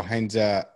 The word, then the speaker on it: Heinze: And so we were left a bit in the lurch, and they probably started the search immediately, had Heinze in mind because he was available then.